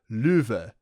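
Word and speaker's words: Loewe: His name is the German word for lion, which is supposed to be pronounced louv.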